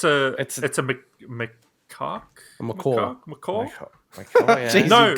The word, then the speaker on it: macaque: Well, it's a macaque. A macaw. Macaw. Yeah. Jeez, No, macaw. Macaw is not the way that I've heard it being pronounced. So. Oh, really? No, macaw's a bird.